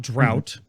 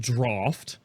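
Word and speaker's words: Draught: the draft of souls it's not drought it's pronounced draft the draft of Souls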